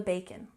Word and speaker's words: bacon: Bring home the bacon. Bring home the bacon. Let's stress the first syllable.